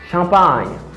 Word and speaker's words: champagne: the pronunciation of this word et concentrez-vous avec prononciation mot ça pour capable capter normalement. I say assign. It means signe. Campagne. Champagne.